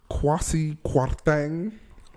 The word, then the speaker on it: Kwasi Kwarteng: Right off the bat, Kwasi Kwarteng. Oh, is that the pronunciation? Yes, it is. Is he South African? It's a Ghanaian name.